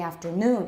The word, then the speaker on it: afternoon: afternoon that's better so the original stress in the citation form is on noon and put that in your notes if you had it wrong before because in taiwan i hear that mispronounced very very commonly so let's do this